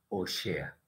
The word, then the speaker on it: Oshea: el profeta Oseas, pero en realidad se dice Oshea.